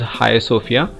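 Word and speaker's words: Hagia Sophia: azan at high sophia this is pronounced as high sofia is silent here it is a milestone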